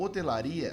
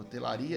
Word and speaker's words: hotelaria: O hotelaria, nós não temos a pronúncia, vou colocar aqui, pessoal. Nós não temos a pronúncia do H. O H não é pronunciado.